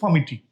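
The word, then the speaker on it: palmitic: দেখ লেখা আছে পালমিটিক। আমরা উচ্চারণ করছি পামিটিক।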